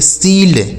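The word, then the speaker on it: shield: इसे पढ़ेंगे सील्ड। क्या पढ़ेंगे? सील्ड।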